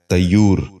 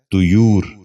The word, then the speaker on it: طیور: غور سے سنیے، طہور۔ 10واں اور آخری لفظ ہے طیور۔ یہ غلط تلفظ ہے۔ درست تلفظ ہے طیور۔ دوبارہ سنیے، طیور۔ بچوں